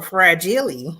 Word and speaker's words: fragile: Or fragile, as my favorite. Yeah, exactly. That's actually the right way to say it. Yeah, of course, it's French. Le fragile.